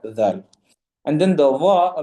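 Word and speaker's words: ذال: Again, the letter dhal will be pronounced exactly from the same makhraj. Okay? Dhal, adh, udh, and idh. With the letter dhal, there should be sort of a buzzing sound.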